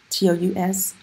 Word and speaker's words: tous: And honestly, if there's one big thing you can take away from this lesson, it's when to pronounce the S on tous.